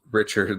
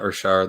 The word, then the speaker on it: Richard: in the playoffs yeah Dustin says it's Richard like Americans say it not Rashard like he's a member of the Montreal Canadians hey I am watching